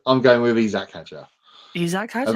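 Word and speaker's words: Isack Hadjar: great and it's also it's not Isaac Hager yeah what is it it's isak haer that's what Alex Jake has always said I'm going with isak haer isak haer call unless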